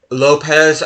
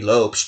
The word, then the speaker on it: Lopes: Lopez, which I think is actually supposed to be Lopes because he's Portuguese, but I'm just going to say Lopez. 9 goals for him. Most assists, Lopez with 6.